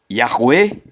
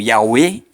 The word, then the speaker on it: Yahweh: Yahweh ou Yahweh, Yahweh ou Yahweh. A letra E também admite uma pronúncia fechada, ficando assim, Yahweh ou Yahweh.